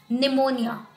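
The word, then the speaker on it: pneumonia: जैसे कि निमोनिया, ठीक है, ये एक वर्ड है तो हमें बहुत बार प्रॉब्लम होती है क्योंकि इसकी स्पेलिंग तो पी से स्टार्ट हो रही है बट इसमें पी साइलेंट रहता है।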